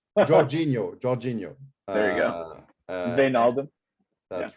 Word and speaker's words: Georginio: chris just ask brian for all your dutch pronunciation georginio georginio there you go that's right and uh